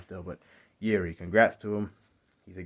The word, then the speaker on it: Jiří: congrats to yuri and that's how you say his name yiri not jiri so i can't say his last name still but yeri congrats to him he's